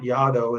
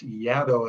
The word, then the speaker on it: Yaddo: Yeah, you pronounce it not Yaddo, it's Yaddo as in shadow, Cool.